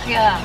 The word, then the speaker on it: Schiedam: Schiedam, como se pronuncia, ya, ¿cómo se pronuncia? Schiedam, ¿right? Schiedam. Right, te decía. Schiedam. Schiedam. Pero viste acá las CHJ, la SJ, la HJ, todo es J.